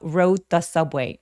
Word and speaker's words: rode the subway: rode 할 때의 D와 the 할 때 관사의 더 TH가 소리가 거의 같죠. 그래서 혀의 위치가 매우 가깝기 때문에 그냥 한 번만 발음해서 rode the subway가 아니라 rode the subway, rode the subway 이런 식으로 디귿 받침 정도로 처리해 주시면 매우 자연스럽습니다.